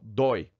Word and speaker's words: dói: falar seu o dói se você não colocar acento no dói você vai falar doido igual você fala boi por quê que boa e não tem jeito que a pronúncia fechada oi e dói dói a pronúncia aberta dói tá herói se acentua